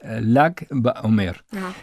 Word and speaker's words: Lag BaOmer: El número 33 se escribe en hebreo con las letras Lamet y Gimel, L y G. Pones una A entre medio y dice Lag BaOmer.